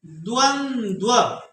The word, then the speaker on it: द्वंद्व: द्वंद्व, शुद्ध शुद्ध उच्चारण सुनिए और शुद्ध शुद्ध लिखिएगा। दो द हैं, बीच में न है, और दोनों द के पैर में नीचे हुआ लगा है। द्वंद्व, द्वंद्व समास।